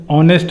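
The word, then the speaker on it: honest: उसका हम देखते हैं उच्चारण है, एक बॉबल साउंड है, यानी बॉबल साउंड क्या होता है, ए ई आई ओ यू, या हिंदी में आ से आह तक जो होता है वो हमारा स्वर होता है, उसको हम बॉबल बोलते हैं। तो यहाँ बॉबल साउंड है, ऑनेस्ट मैन, तो ओ का उच्चारण आ रहा है यहाँ पे, तो हम भरेंगे यहाँ पे एन।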